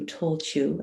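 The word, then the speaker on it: Tailtiu: and what happened to tolchu and it's spelled t i l her name is spelt t-i-l-i-t-l-u you know but it's a gaelic word so nothing is ever read like it's written um but she actually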